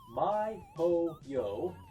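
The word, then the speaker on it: miHoYo: in between qual team forgive me if I mispronounced this and the team that developed this was myo yo lowercase M lowercase i Capital H lowercase o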